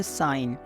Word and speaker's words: sign: क्या होता है कि एन से पहले हम हमेशा जी को साइलेंट रखते हैं। यानी कि अगर किसी भी लेटर में जी के तुरंत बाद एन आ रहा है तब वहाँ पे हम जी की प्रोनाउंसिएशन नहीं करते हैं, वहाँ पे हम क्या करते हैं, जी को साइलेंट कर देते हैं। फॉर एग्जाम्पल SIGN साइन, तो यहाँ पे साइन नहीं बोलेंगे, साइन बोलेंगे, साइन।